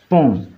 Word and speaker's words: pont: Les ingénieurs construisent des ponts. Les ingénieurs construisent des ponts. Pont es nasal y van a leer esta parte. Lo otro se escribe pero no se lee, no se pronuncia.